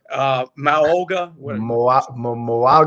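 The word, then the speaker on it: Mauigoa: So the kid from Miami, I can't pronounce his name. You can. Moaga.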